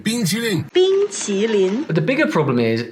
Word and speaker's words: 冰淇淋: In the ice cream video, he pronounces the consonant of qi like the English ch instead of the t sound in Mandarin. 冰淇淋。